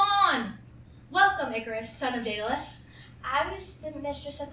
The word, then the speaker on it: Daedalus: Starts with a D, ends with an S, and rhymes with Aeschylus. Who? Sort of. Wait, no, Pegasus. Rhymes with Pegasus. No idea. No idea. Daedalus.